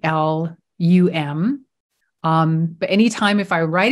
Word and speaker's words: lam: even though it's spelled L-A-M, the pronunciation is actually L-U-M.